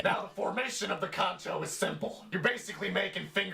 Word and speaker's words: kancho: Today's word is known as kancho. Pronounced exactly the way it's spelled, ka-n-cho.